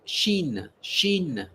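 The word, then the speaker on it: Chine: C H I N E. We pronounce it. Shin.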